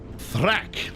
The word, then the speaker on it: Thracc: Thracc, like track.